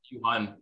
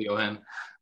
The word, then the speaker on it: Johan: It's actually pronounced Johan, but like nobody can really pronounce it, so I just go with Johan.